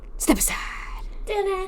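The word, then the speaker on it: Stepaside: affordable housing suburb um in Bellerine Plaza in Step Aside. Step aside. Step aside. That actually is pronounced Step Aside.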